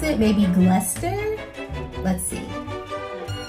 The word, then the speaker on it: Gloucester: on my assumption of how british people would pronounce it maybe gluster let's see cluster gloucester what okay iron was close gloucester cluster